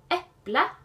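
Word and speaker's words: eplet: Äpple. Äppler. Äpplene. Et äpple. And then in definite form, you have an et ending. Äpple. But you can hear you don't actually say the t.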